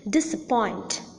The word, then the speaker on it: disappoint: little less prominent than the last syllable, and that is the first syllable of all the words that I have mentioned just now.